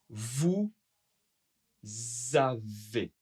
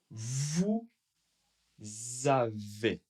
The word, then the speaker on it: vous avez: Alors, pareil, comme avec nous, le S n'est pas prononcé, vous, sauf si, et bien sûr, il y a une voyelle. La voyelle, donc, encore une fois, une liaison.